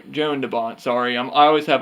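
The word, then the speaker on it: Jan de Bont: it was directed by John de bon who also drew me not John Joan Joan de Bont sorry I'm I always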